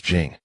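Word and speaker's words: 警: This word is pronounced as jing.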